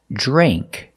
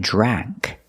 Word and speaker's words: drank: drink in the past drank remember use the long a sound it's not drank it's not a like apple it's a Dre Drank in the present drink in